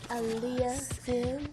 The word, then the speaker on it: Alia: radio we tuning in today live with Miss Aliah am I pronouncing that right cuz it's it's such a